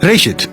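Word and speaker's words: בראשית: Gênesis vem de uma palavra hebraica que é pronunciada Rit e significa simplesmente início.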